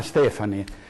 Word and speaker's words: Stefani: Si chiama Stefani e in una squadra ci si dovrebbe conoscere e bisognerebbe pronunciare i nomi dei propri ministri, in questo caso correttamente.